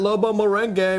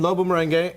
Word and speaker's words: Lobo Merengue: So at Lobo Merengue, what's up?